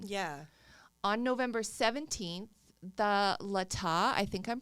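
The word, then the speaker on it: Latah: a total contradiction yeah on November 17th the Lata I think I'm pronouncing it right but l-a-t-a-h Ada Lata I'll say Lata because it sounds fancy yeah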